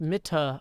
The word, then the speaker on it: Mitte: Mit is pronounced Mitte, by the way. No silent E's in German.